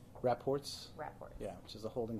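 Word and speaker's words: Wrapports: And can you pronounce for me on camera the way that you pronounce Raports? Raports.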